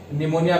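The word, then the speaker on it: pneumonia: इसमें P silent रहता है निमोनिया में, इसलिए हम इसको बोलेंगे प्यूरो निमोनिया लाइक ऑर्गेनिज्म।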